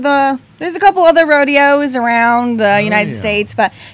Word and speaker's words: rodeo: you tonight Mason Bothwell yes Miss Salinas California rodeo queen 2022. yes and she loves horses I do yes a fun fact about Salinas it's actually pronounced Rodeo yes not Rodeo Rodeo yeah we like to